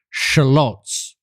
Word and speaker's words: shallots: Shallots, or as you Americans say, shallots.